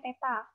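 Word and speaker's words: θ: tapi dimensinya adalah kurung siku peta nih lambangnya dibacanya Teta satuan Kelvin perlambang satuan Kelvin nya ka besar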